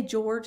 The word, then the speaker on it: Jorge: Hold the bat this way, he said, moving Jorge's hands slightly, and bend your knees a bit more. Now, I think it's pronounced Jorge, but you could say George if you wanted to.